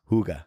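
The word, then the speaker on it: hygge: love in in Denmark they use the word Hugga Hugga h y g g e pronounced Hugga is that where the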